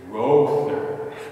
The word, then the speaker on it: Rother: last name and she said oh monsignor it's rother so i'm sorry i'm sorry i don't pronounce it but so i've tried to get